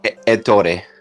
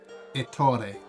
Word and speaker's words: Ettore: Ettore. Ettore. Okay, so say the E. Yeah. Ettore.